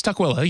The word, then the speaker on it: Tukwila: Yeah, well, it's Tukwila. You had a weird pronunciation, but it's Tukwila.